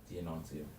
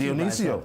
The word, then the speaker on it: Dionisio: Dionysio. No, it's not Dionysio. What's first Dionisio. Sorry, Dionisio de Agla, former Minister of Tourism and Aviation under the Dr.